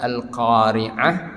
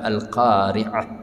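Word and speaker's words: القارعة: kita dengan a ya tapi kalau Ain ini enggak ada dalam ya huruf dalam bahasa indesia itu agak dalam pengucapannya dari khalquum kita ya agak dalam alqariah alqariah ya kalau al-qariah hanya ya kita membacanya dengan dengan A ya itu beda sekali ya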